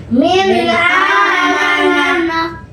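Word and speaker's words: من آمن: Nun matinya dibaca jelas dan terang. Min min amana min amanah bagus min amanah min amanah bagus sekali baik selanjutnya contoh tanwinnya Ya, Om.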